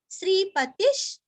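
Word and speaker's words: श्रीपतिः: श्रीवत्स वक्षा श्रीवासश श्रीपतिश श्री दीर्घ पति का तीरस्व श्रीपतिश श्रीमताम श्री दीर्घ ता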